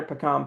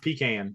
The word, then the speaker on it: pecan: first of all, it's pronounced pecan, but that's all right. That's our Carolina education. Because Yeah, I've always said educational I've game. always said pecan.